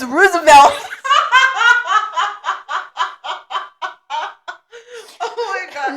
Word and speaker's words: Roosevelt: and he was like, yeah, so our UIL's at Roosevelt. What? He was like, Roosevelt. Roosevelt. He was like, Mom, it's Roosevelt. Oh my God. No, it's Roosevelt. He was like, but there's two O's.